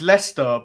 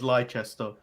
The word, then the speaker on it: Leicester: get that mixed up it's leicester but it's spelt and americans when they come over tend to read it as lychester oh i've stayed in